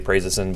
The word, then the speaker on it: prazosin: we'll talk about and you may hear different pronunciations I say prazosin some people may say praising but anywho so this